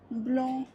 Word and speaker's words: blanc: On ne prononcera ni le C, ni le D, ni le S, ni le T, ni le P. À la fin des mots, par exemple, on dira loup, blanc, rond, dents.